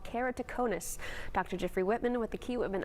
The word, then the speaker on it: keratoconus: Now, help us understand keratoconus. And you pronounced it very well.